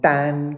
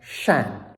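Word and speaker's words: 單: Next first tone, dan, can also be pronounced shan, or second tone, chan.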